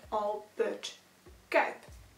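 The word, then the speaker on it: Albert Cuyp: That's also how you pronounce his name. It's named after the painter Albert Kuip.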